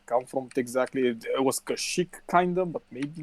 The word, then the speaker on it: Kashyyyk: __ ] paste come from exactly it was Kashyyyk kinda but maybe not no no oh Kashyyyk or a bunch of sand people aren't they